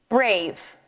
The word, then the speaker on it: brave: And when I sound out this word, I see that I've got a blend at the beginning, br, a, a long a sound, v, brave. I don't hear the e at the end.